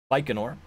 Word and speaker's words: Baikonur: and he corrected me I was using an L sound and there's not an L sound in there it's just Baikonur so from Baikonur cosmodrome this Thursday there is a launch at around 7 p.m.